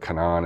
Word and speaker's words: Canaan: And not just Bitmain and Whatsminer, but Canaan is how it's spelled, but Canaan I think is how they pronounce it, and eBang, and is that Avalon miner or is that Canaan?